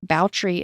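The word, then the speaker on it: Báthory: the episode Elizabeth's last name B is actually pronounced boutry in Hungary and her name was zabet but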